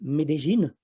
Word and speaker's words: Medellín: Notre étape suivante, c'était Medellín qu'on prononce en fait Medellín.